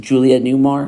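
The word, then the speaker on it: Julie Newmar: Julia Newmar, is that how you say her name?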